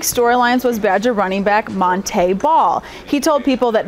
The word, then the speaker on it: Monte: And actually, one of the big storylines was Badger running back Monte Ball. He told people that Monte is the correct way to pronounce his name. It's not Monty.